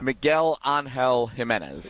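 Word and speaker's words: Miguel Ángel Jiménez: Miguel Angel Jimenez.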